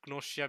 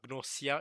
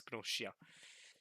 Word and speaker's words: Gnosia: Yeah, with a she sound instead of a s sound. It's not Gnosia. It's Gnosia.